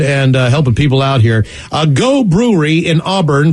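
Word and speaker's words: Geaux: helping people out here a go brewery in auburn pronounced a go which is actually spelled g-e-a-u-x uh their tap room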